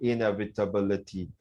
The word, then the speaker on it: inevitability: I love the way you read the word inevitability. Cool, man. Slow and steady. It's inevitability. Inevitability. 7 syllables.